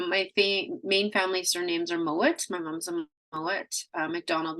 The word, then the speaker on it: Mowat: So my main family surnames are Mowat.